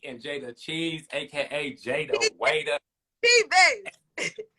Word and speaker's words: Cheaves: Cheaves. Oh, how you say it? Cheaves. Cheaves. Girl, that's not how it looks.